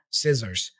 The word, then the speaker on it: scissors: the the beginning yeah we don't pronounce it like a c it's like an S sound s we don't really